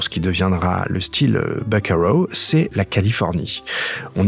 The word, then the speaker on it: buckaroo: de gens qui disent buckaroos, mais en réalité, non. C'est un mot qui se prononce buckaroo, où on retrouve bien les sonorités du mot originel vaquero.